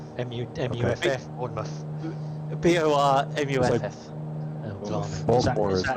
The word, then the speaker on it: Baltimore: The Baltimore natives call it Baltimore. Baltimore. Lovely two place, syllables.